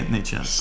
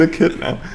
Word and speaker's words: echidna: a zoo tour video to finally see the Adnitsha. Come on. Adnitsha? I don't know how to pronounce it. It's an echidna.